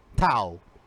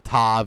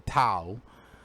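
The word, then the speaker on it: ת: the last letter uh the tao well it's spelled like tav but maybe like i said because it's more maybe pronounced more of a tav in the modern hebrew but not in ancient hebrew we call it a tao instead um so uh it's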